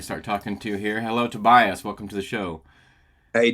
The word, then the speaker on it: Tobias: And now, am I saying it right, Tobias? Sometimes on your show they say it another way. Tobias. Tobias. Okay, all right. That's Yeah. the German way to say it, yeah. But Tobias is fine.